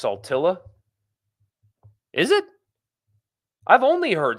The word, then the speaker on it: Saltillo: Saltillo is pronounced Saltilla. Is it? I've only heard Saltillo.